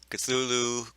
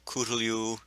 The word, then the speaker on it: Cthulhu: I am the Blues 32, and there are many different ways to say it. Cthulhu, Cthulhu, Cthulhu, Cthulhu. Really doesn't matter. You can't really pronounce it anyway, according to Lovecraft.